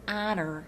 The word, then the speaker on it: honor: President, it is an honor to meet you. In that sentence, the word honor has a silent H in front of it.